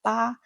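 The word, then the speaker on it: 八: In Chinese and some other Asian cultures, people love the number eight because ba sounds like fa which means wealth and good fortune.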